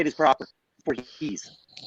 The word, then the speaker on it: Voorhees: They kept getting mad at me on set because I kept mispronouncing Jason Voorhees' name.